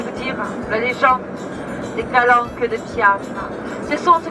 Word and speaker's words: Calanche: Ça s'écrit Calanche, mais ça se dit Calanque.